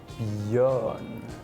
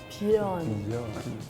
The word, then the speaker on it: björn: This pronunciation. Yeah, so that word is actually björn. Björn.